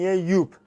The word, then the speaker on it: Joop: هوم آیس که توسط برند آلمانی یوپ که توی زبون فارسی جوب تلفظ میشه که اشتباه هستش تلفظ صحیح این برند یوپ هست توی سال ۲۰۲۰۰ با